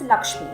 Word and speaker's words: LXME: mentor and passion is lakshmi which is spelled as lxme lakshmi is a community